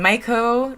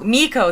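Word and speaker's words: Meiko: Okay, and then Maiko, Tyler Hilton, Kate Vogue, Miko.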